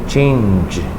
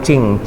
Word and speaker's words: change: Pengucapan kata change ini hati-hati, jangan cing, seringkali cing. Tadi di kelas SMP tadi sudah. Dan di SMA jangan cing ya, change apa? Change bukan cing ya.